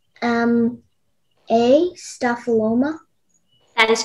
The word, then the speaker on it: staphyloma: 138 all right okay uh your word is staphyloma can you repeat the word the word is